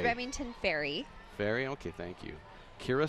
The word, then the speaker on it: Remington Ferry: So this says that the novelty award winners are Brady Moss, Remington Fair. Is that how you pronounce that? Or I think it's Remington Ferry.